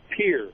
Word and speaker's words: Pierre: Yeah, you guys pronounce that wrong. It's Pierre, not Pierre. Pierre.